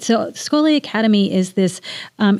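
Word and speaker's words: Schole: So, Skoli Academy is this um it's spelled S C H O L E.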